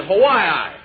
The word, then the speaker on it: Hawaii: Say, I got a letter from my brother in Hawaii. Slim, I believe that's pronounced Hawaii.